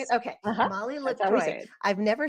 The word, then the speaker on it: LaCroix: is that how you say it okay Molly lroy I've never said it out loud or heard